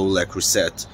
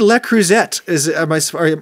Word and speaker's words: Le Creuset: Are we supposed to say the T? I say Le Creuset. That's just what I've heard. That's just because I'm an intimidated American, and if there's any letter in a French word that I'm worried about, I just don't say it.